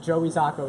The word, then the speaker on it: Joey Zocco: Don't forget, Joey Zocco is how you say it.